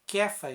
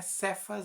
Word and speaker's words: Cefas: de Jonas tu serás chamado cefas é que faz a gente não é cê faz não é que faz